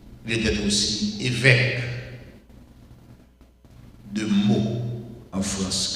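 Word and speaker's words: Meaux: était aussi évêque de mot en France quand je dis mot ça s'écrit M e a x ben il était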